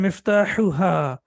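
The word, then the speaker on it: مفتاحها: We have hu and then hu. So the first one is both of them are from the throat, but this one is sharp. So we say miftahuhu and miftahuha.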